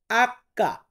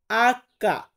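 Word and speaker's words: acca: যেমন এই যে এইস এর কিন্তু কোনো মিল নেই সাউন্ডের সাথে, আমরা বলি এইস। আর ইতালিয়ান বর্ণমালাতে এটাকে বলা হয় আক্কা। আক্কা।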